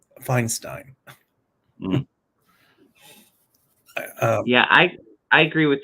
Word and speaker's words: Feinstein: and um uh and in German is pronounced uh Feinstein yeah I I agree